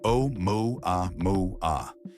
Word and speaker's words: 'Oumuamua: Its name pronounced O moo a moo a echoing across headlines and screens.